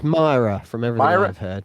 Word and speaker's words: Myra: the church there in Murrah. Am I pronouncing that right, guys? Help me out. I think it's Myra from everything Myra?